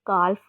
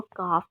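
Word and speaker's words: calf: हम लोग काफ का भी एल इसमें साइलेंट होता है. ठीक है. काफ को हम लोग ऐसे नहीं प्रोड्यूस कभी भी करते कि हम लोग उसकी एल की भी आवाज़ निकालें, मतलब कि हम उसको काल्फ बोलें. हम इसमें एल को साइलेंट रखते हैं, हम उसको काफ बोलते हैं.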